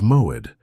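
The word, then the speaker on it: מוֹעֵד: The Hebrew word that defines exactly what is happening to you is moed. Pronounce it with me in a low voice.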